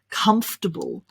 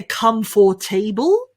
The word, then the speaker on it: comfortable: way it's been written we don't say come for table no no no no no instead we say comf comf tur tur bull bull comfortable comfortable can you try that well done so we've really only got three syllables there three sounds in that word instead of come for